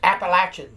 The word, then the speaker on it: Appalachian: Okay, and yes, Appalachian, not Appalachians, or I'm from the Appalachians, and that's the way it's pronounced.